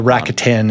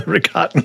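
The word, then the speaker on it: Rakatan: I was calling the Rakitan invaders. It was the Ricotten Invaders.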